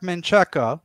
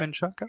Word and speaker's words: Menchaca: If Mark Menchaca, is that how you pronounce his name? Yeah. Menchaca?